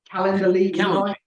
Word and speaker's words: Calendly: How do you pronounce that word? Calendly.